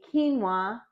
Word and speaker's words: quinoa: one first now we're going to make a quinoa dish okay what is quinoa well it's that